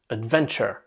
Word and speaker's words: adventure: Attention à la prononciation aussi, on ne dit pas tur, on dit chur, adventure, voilà.